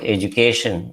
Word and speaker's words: education: When you write education, it is pronounced as J.